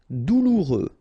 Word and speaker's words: douloureux: Douloureux, remember, final X not pronounced, so you get this OU together, ou, douloureux, douloureux.